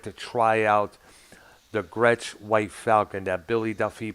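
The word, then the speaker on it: Gretsch: company craigship i understand uh it could be gretch i don't remember for sure it's spelled g-r-e-t-s-h yeah that's rich scratch gretch yes yeah it was like you know it's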